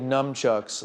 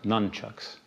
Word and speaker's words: nunchucks: overturned on constitutional grounds you made numchucks legal in New York well actually it's pronounced nunchucks right nunchucks why are